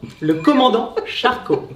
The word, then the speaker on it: Le Commandant Charcot: Le Commandant Charcot. Sorry Perfect. for my It's all right, at least French. you pronounced it correctly.